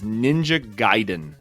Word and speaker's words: Ninja Gaiden: to apologize to you so the correct pronunciation is ninja gaiden that is not how i was raised that is not what